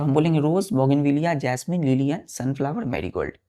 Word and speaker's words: Bougainvillea: फिर दूसरा हम बोलते हैं बच्चों जैसे कि बोगेनविलिया, BOUGAINVILLEA, बोगेनविलिया, है ना।